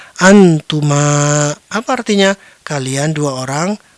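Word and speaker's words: أنتما: Selanjutnya, ini sama dengan yang sebelumnya, jadi kita membacanya sebagai " antuma".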